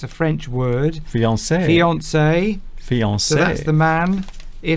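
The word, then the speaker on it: fiancée: Fiance. Fiance. So that's the man. If the woman, this is the female equivalent. It's pronounced exactly the same.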